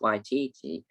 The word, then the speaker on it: Waititi: Now, before I found out how you pronounce Taika Waititi, I used to call him Taika Waititi.